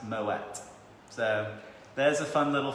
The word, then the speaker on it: Moët: It's not Moët. Apparently it is, because it is Dutch German, it is actually pronounced Moet.